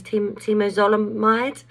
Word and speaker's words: temozolomide: And then I went on TMZ chemo, which I believe is pronounced as temozolomide.